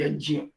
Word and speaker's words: यज्ञ: ये जब आप उच्चारण करते हैं तो आप ध्यान रखेंगे जकार और यकार है यज्ञ ना, जौ और यो नहीं है, यज्ञ गौ यो नहीं है।